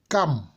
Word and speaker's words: Cham: Cam, mais cela s'écrit Cham en français, mais ça se lit Cam, qui est l'ancêtre des Noirs.